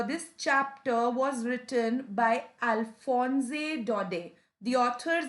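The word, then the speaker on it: Alphonse Daudet: dodie also just uh keep the t silent in dot it's not dot that it's dode so as long as you say alphonse dode or alphonse if you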